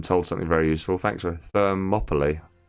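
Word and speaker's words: Thermopylae: Thermopoly. Thermopoly. Okay. That's how you pronounce it. So, it's like Monopoly but with fur in front of it and no N.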